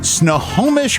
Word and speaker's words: Snohomish: on purpose I'm Snohomish Snohomish Washington we have Evergreen dermatology all right of course no Hamish it's free you pronounced it exactly like it looks yeah you're absolutely right